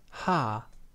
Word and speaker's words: H: In the German language, the name of the letter is pronounced ha.